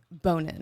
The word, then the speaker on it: Bonin: Is it Bonin?" But you get a lot of jokes. Well, it's like boner jokes, but it's actually pronounced Bonin. It's French, Bonin? but it's just Bonin. Well, like so